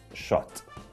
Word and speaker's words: Szot: It should be pronounced as Szote, Paulo Szote.